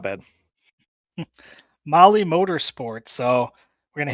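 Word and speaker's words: Mahle: of our podcast listeners Molly is spelled m ahle e all right tell tell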